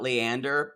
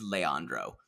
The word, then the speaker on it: Leandro: So, y'all, she's meeting Leandro for lunch. I want to say, you always talk about Leander, that she calls him that.